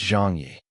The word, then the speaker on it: Zhang Ye: Jeangi could understand English and so corrected her. It's Jang Yi.